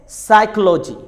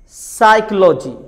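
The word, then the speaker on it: psychology: अगर letter P के बाद एस आ जाए तो लेटर पी साइलेंट होता है. जैसे साइकोलॉजी, साइकोलॉजी. साम, साम.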